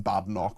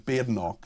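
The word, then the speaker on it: Badenoch: It's Ben rather than Badnock, which some people see, some people still seem to still get wrong. It's BNO, not Badno.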